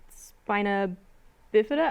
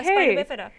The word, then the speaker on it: spina bifida: removed at 26 weeks because the baby had spina bifida? I said that wrong. Yeah. No, you said it right. Yeah, spina bifida.